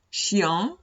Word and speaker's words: chien: O también chien, chien. Chien significa perro. Si veo una GN, se pronuncia como la ñ.